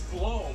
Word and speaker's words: Blohm: how do you say you last time is it blown blown I saw the video of you with the trional you're like it's blown man when I uh was